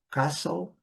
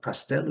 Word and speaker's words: castle: Castle castle castelo. Então não tem nada de castel, castel field e tem nada disso, né?